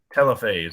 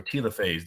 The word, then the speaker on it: telophase: of the cell and that is called telophase or telophase depending on how you pronounce it the pronunciation does not matter so here we go